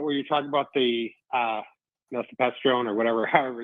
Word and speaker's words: mifepristone: Just a quick thing about where you're talking about the mifepristone or whatever, however it's pronounced.